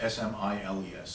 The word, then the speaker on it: Smiles: In fact, one of the best books representing this was a public writer and philanthropist and social critic named Samuel Smiles, spelled like Smiles, S-M-I-L-E-S, Smiles.